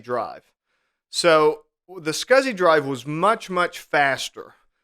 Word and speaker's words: SCSI: computer system interface SCSI which most people pronounced as scuzzy so they would refer to a scuzzy drive so the scuzzy drive was much much